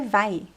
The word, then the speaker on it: vai: Você vai. 2 vowels. Remember to pronounce both vowels.